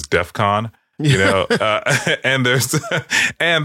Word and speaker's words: DEFCON: says in the Tweet he says death con you know um and that's that's not the way it is pronounced it's Defcon you know and there's